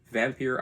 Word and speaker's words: Vampyre: of the channel is is vampir outdoors um not pronounced vampire or vampire Outdoors anyway I reached